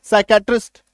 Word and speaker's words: psychiatrist: अब पढ़िए, कबर्ड आ गया ना, PSYCHIATRIST, पी के बाद S, BNST, पी के बाद ऐसा गया, पी को खा गया ये। अब पढ़िए, साइकेट्रिस्ट, RASPBERRY।